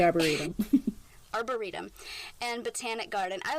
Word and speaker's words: Arboretum: Los Angeles County I never know how to pronounce this word Arboretum arborium I would say Arboretum Arboretum and botanic garden I was homeschooled which